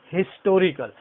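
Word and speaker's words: historical: ये ऐसा वर्ड है हिस्टोरिकल, जिसमें हम एच को साइलेंट नहीं कर रहे हैं, बल्कि that is known as हिस्टोरिकल। ह इज प्रोड्यूस्ड हियर।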